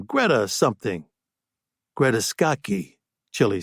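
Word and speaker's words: Scacchi: Greta skcky. Chilly said. That's the one. That's how you pronounce it. Huh? Skiy. I never knew that. I heard scotchy. I never heard sky.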